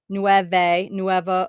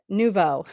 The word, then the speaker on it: nouveau: Vienne Art Nuevo, oh, Nouveau. I knew I was saying it wrong. I always say it like nueve, and it sounds like I'm saying the numbers in Spanish. Nouveau. It's nouveau.